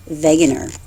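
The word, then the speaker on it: Wegener: German meteorologist and so the W is pronounced like a V veganer now he proposed uh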